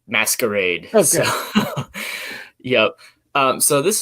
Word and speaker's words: Mascarade: I call it Mascarade, but I'm not sure. I've heard a bunch of different ways of pronouncing it. How do you say it? I totally Americanize it and say Mascarade.